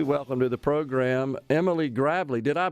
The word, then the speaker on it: Gravlee: We welcome to the program Emily Gravlee. Did I pronounce it correct, Emily? Is it Gravlee or Gravely? It is Gravely. You pronounced it perfectly.